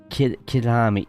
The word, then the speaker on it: Kyalami: Kilami, that's the one, yes. I always, before I look at pronouncing it, I always think calamari. It's just like, don't say that.